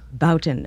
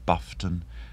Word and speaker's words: Boughton: I mean, anything from Boughton to Buffton. It's quite incredible.